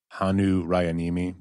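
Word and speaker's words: Hannu Rajaniemi: and if anybody's interested it's hanu rayanimi uh we'll put it in the show notes so you can see how it's spelled it's interesting the show notes yep the show notes that's how they say it in fact and it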